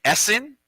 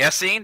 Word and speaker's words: Essene: pharisee there's the sadducee the essen or the essene depending how you pronounce it and anybody know